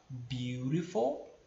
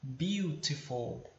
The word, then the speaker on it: beautiful: em inglês né beautiful você pode pronunciar de duas formas diferentes você pode falar biurifou how beautiful tá as duas formas estão corretas e no caso que eu falo beautiful tá mas você vai ouvir muita gente falando beautiful tá então não tem nenhum problema olha isso aí na